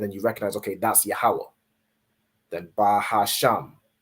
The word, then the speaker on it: Yahweh: So you're not saying like Yehovah or however the oppressor would pronounce it. However they pronounce it with their Yiddish. You convert it into the ancient Hebrew. So you're saying Yahweh.